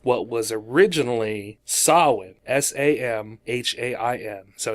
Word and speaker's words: Samhain: eyes version of what was originally saw with sa m h AI n so it's not same hain it's pronounced Sawin which was a Gaelic festival I would say